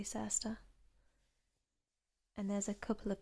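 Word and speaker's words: Circhester: when we have um words that have this like chester bit in them we actually don't pronounce it how you'd think that you would so this place you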